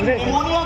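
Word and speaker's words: pneumonia: निमोनिया हुआ और मुझे ये पता चला कि निमोनिया की स्पेलिंग एन से नहीं पी से स्टार्ट होती है।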